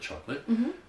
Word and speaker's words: chocolate: Even though the word late is at the end of the other word, chocolate, it's pronounced chocolate, not chocolate.